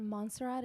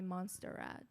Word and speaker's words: Montserrat: kenna okay and at monserrat and i go by monsie got you people pronounce my name so wrong many times even they call me monster rat and i said no